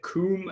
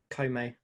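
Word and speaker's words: Koume: Obviously, is it Koom and Kotek? Is that how you pronounce them? Kome. Kome, sorry. Doesn't have an accent over the E's, so it threw me off.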